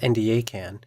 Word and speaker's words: NDACAN: NDACAN, pronounced NDACAN, is the National Data Archive on Child Abuse and Neglect.